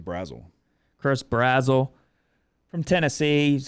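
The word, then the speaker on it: Brazzell: Brazil? I always called him Brazil. I think it's Brazel.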